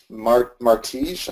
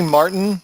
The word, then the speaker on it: Martin: All right, Martige, I think I might be saying your name wrong here. He said, "What?" No, it's really Martin. He just got a J in there when he registered.